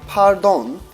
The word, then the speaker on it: pardon: If you say pahr-DOHN, like they would do in France, that will be widely accepted and used as well.